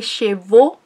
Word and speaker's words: chevaux: Pronuncien bien el porque si no están diciendo los caballos, ¿ok? En francés, les chevaux son los caballos y les cheveux, como el bobo, les cheveux son los cabellos.